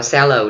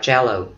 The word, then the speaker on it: cello: Bạn thấy chữ này, mình đọc là shallow, đúng không? C, đọc là S. Không phải. Lý do là bởi vì cái chữ này nó có nguồn gốc ngoại lai, nguồn gốc từ tiếng Ý, phải không? Và ý nó đọc là cello, ok, cello, ok, cello.